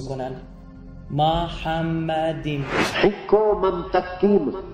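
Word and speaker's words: מחמדים: اما اینجا یه کلمه وجود داره که عبریش تلفظش اینه، ببینید، محمدیم.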